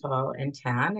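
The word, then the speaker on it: Tahltan: Uh so I'm a member of the uh Talllan nation. So it's pronounced tall and tan and as you see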